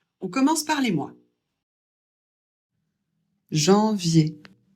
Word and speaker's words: janvier: Janvier. Le J en français ça se prononce J.